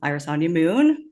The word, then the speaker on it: Irisanya Moon: might not know um Iris on moon that is the corre correct way to pronounce that um I am